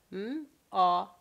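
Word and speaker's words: ماه: And here you have m, a, he, ma.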